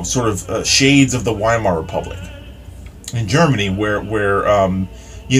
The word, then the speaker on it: Weimar: early 30s was the Weimar Republic, or Weimar. That's the way Germans pronounce it.